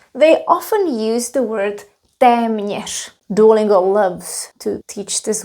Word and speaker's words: téměř: Well, not to mention that teme nish is a little bit difficult to pronounce. Teme nish. Teme nish.